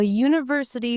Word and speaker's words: university: So, a university works because it flows into the Y sound.